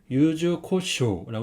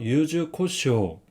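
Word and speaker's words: 柚子胡椒: 주세요 카라시네 카라시 그다음은 이거는 유자 후추라는 소스입니다 발음은 유즈코쇼고 있습니다 따라해 주세요 유즈코쇼 유즈코쇼 세 번째는 이거는 알죠 된장이 된장 소스 그래서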